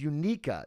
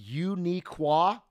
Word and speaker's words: Uniqua: Species unica, gender female, occupation none, interest pretending and reading. Relatable. 500,000 likes. That she seems unica. It's pronounced uniqua.